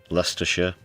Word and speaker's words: Leicester: Wiltshire, Glousters, Hertfordshire, Warikshire, Lester. Yes, that's how you pronounce it.